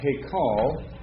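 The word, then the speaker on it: היכל: this syllable is accented why because the last syllable is always accented unless I'm told otherwise in the text right so you pronounce it just right uh he call uh which means Palace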